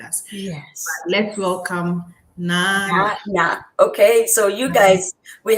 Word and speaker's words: Naana: She's not Nana, she's not Naana, she's not Nana, she's Naana.